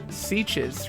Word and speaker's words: Sitges: Sitges rhymes with beaches.